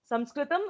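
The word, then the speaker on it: संस्कृतम्: So, bare minimum, we should call it as Sanskrit. Sanskritam is the ideal Samskrita pronunciation. Even if not, we should call it as Samskrita, Sanskrit, etc. Never as Sanskrit because it is a demeaning statement according to a lot of learned scholars.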